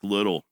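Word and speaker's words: Liddil: It's spelled L I D I L, but that sure ain't the way it sounds.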